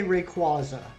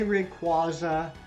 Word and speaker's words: Rayquaza: Um, I say Rayquaza. I say Rayquaza because there's not a second Y in the name.